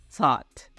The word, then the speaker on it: thought: Untuk pengucapannya kita bilangnya itu pakai sa yang di lidahnya digigit gitu. Jadi bilangnya itu thought gitu.